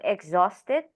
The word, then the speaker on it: exhausted: And I heard someone said exhausted, and it's supposed to be with the z, so exhausted.